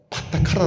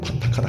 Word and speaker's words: 파타카라: 인도 경전 에서 그녀 의 이름 은 파타카라 입니다 . 파타카라 , 한번 발음 해 보세요 .